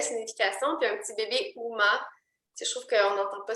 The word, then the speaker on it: Uma: J'ai choisi Uma, U-M-A, comme l'actrice Uma Thurman. Donc, on pourrait prononcer Uma, Uma.